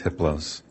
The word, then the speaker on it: Hypolos: entity his name is hypolos the H is silent the other three are